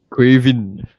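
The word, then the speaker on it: Caoimhín: Quin. Quin Keller. The pronunciation and the letters don't align. Yeah. So it's so it's actually uh uh what I read was it's a Gaelic version of Kevin Quin Kalaher.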